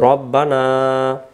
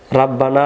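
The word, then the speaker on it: رَبَّنَا: রব্বানা জলামনা, রাব্বানা না রব্বানা বলবো, রব্বানা, তারপরে জলামনা, তারপরে আনফুসানা, তারপরে ওয়া ইল্লাম তাগফির লানা, তারপরে ওয়া তারহামনা, আবার বলেন ওয়া তারহামনা, লানা কুনান্না মিনাল খাসিরিন।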